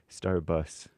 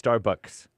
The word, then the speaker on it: Starbucks: Starbus. Starbus. No, sorry. It's Starbucks.